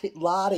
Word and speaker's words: Lodi: Robert Lodi is here.